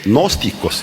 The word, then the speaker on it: gnósticos: Entonces, gnósticos, también se puede pronunciar sin G, gnósticos, igual.